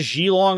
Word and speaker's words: Geelong: It's Geelong. It's Geelong. What the fuck? You put 2 E's next to a G. That's a G sound. That's a soft G.